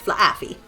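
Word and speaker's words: Flaaffy: You got to pronounce the two distinctive A's here. It's not fluffy, it's flafy.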